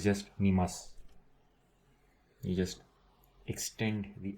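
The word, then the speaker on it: 見ます: Watashi wa I, terebi o, the TV, and watching is mi mas. This SU, it's su, but they generally pronounce it s, like mi mas.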